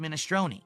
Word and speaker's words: minestrone: Only it's not minestronei.